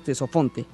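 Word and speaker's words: Ctesifonte: Sí, esa ciudad la van a conocer como Tesofonte, se escribe con C y con T, le decimos Tesofonte, que en griego significa lleno de sonido.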